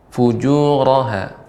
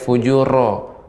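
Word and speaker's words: فجورها: Ya, barangkali mungkin catatan untuk ro di sini dia tidak boleh banyak getaran, ya, sedikit saja getarannya. Fujuraha. Fujuraha. Jangan saya fujuro. Kalau fujuro, jadi getarannya lebih banyak.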